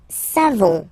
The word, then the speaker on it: savons: Nous savons. So classic ending for nous, O-N-S. You don't pronounce the final S.